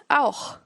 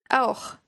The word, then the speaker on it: auch: The next word is auch. Means also or to. Auch. Also. Be careful with the last sound of this word, the ch part. You will need to practice this a lot.